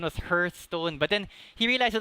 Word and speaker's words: Hearthstone: I mean, if you Google how to pronounce it, it's Hearthstone because hearth is a fireplace.